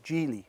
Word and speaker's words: Geely: And yes, this is the Geely logo, and you do pronounce it Geely, not Geely.